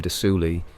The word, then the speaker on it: de Sully: Of Redcaps, one of the most infamous is the story of Lord William de Sully and his sinister familiar There you Robin. go, de Sully. The S is silent.